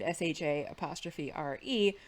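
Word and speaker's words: Sha're: I thought it was just Michael Shanks and everybody pronouncing it differently, but it's SHA''URE, Millie Avital in the movie, and SHA''RE, Viater Hirschon in the series.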